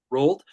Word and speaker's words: Rold: Believing there is a small window to reap the benefits of a prophecy, Rold, is that how you pronounce it? Yes. Rold, accompanied by a knight